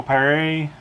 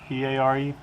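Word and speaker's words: Paré: But anyway, the guy character in this movie is Michael Perry, I think it's pronounced Peare, and of course the bad guy is Willem Dafoe.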